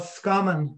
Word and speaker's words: Roscommon: my funny expression for roscommon is that the people of roscommon have a very strange pronunciation of rascamin they tend to drop the r and the o and it's called scumman when you came to